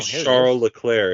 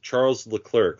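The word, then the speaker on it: Charles Leclerc: British guy yeah like say charl lir it's Charles L cler like when he says his name he says Char hi I'm Charles L clerk I'm a F1 driver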